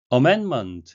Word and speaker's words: amendment: 것을 보여주는 실례가 되겠습니다 amendment 수정이란 의미인데요 ndm 세계의 자음이 겹쳤을 때 가운데의 자음이 생략되기 발음을 하고 그렇게 들리게 되죠 먼가 되겠습니다 amendment 하게